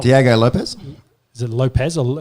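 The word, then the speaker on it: Lopes: Diego Lopez? Is it Lopez? Or how do you say... Because there's no Z in there, it's just S. I think it's just Lopez.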